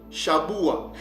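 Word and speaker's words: שבוע: Là maintenant, on voit que la prononciation change, ça devient Shaboua.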